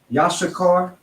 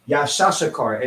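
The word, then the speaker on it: יששכר: Issachar in the Hebrew is Yashakar. And fake Israelites pronounce it Yashashakar. And it is not Yashashakar. It is Yashakar.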